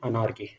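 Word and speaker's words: anarchy: एनार्की। इसका pronunciation है अनार्की, है ना?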